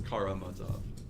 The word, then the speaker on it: Karamazov: Oh, it's Karamazov. Karamazov. Okay. Yeah. I think it's all yes.